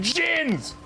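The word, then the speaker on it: jinn: More Isn't it pronounced specifically. Jin?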